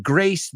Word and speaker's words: grace: They are not homophones. Grace rhymes with face. Rhymes with mace. Mace es ese spray de pimienta. Grace rhymes with lace, encaje, a kind of fabric. And graze rhymes with ways, right? Graze also rhymes with stays.